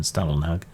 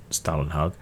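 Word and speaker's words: Stålenhag: you're supposed to pronounce Stallenhag. And various people seem to disagree. Some say it's more like Stollenhag, and some seem to think it's like the German fruity bread Stollenhag.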